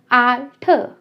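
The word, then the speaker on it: Alter: German में ए sound देता है अ की। आल्ठ, आल्ठ, मुंह बड़ा करके खोलना है, आल्ठ।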